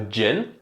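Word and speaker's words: djinn: A personal favorite is the bottle of a gin. That is spelled D-J-I-N-N.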